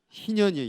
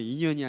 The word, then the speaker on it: 희년: 하겠습니다 희년이 되게 하라 발음을 잘 하셔야 돼 희년이에요 인연이 아니라 희년이야 자 다시 희년이 되게